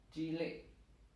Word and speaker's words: cilik: Contohnya umpamanya cilik. Oh, I miring itu berarti kalau yang I justru bacanya bukan I tapi E. Koyok E. Seperti E ya, Pak ya.